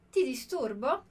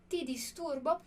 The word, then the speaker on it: ti disturbo: Olha que legal a pronúncia que a gente tem aqui do ti. Essa é a única pronúncia possível para o T em italiano. Então, cuidado para não falar ti disturbo. Por que eu não posso falar ti? Porque ti, esse ti, é o som do C, como a gente vê aqui na palavra ciao.